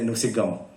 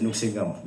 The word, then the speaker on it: Nuksingam: of the places where, say, Rajeshwar say Nuksigam, but actually it is Nuksingam. Nuksi means love, Gam means victory. So it is a place where love conquers.